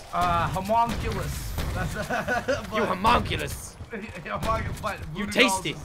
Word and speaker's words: homunculus: I never know how to pronounce them. It's homunculus.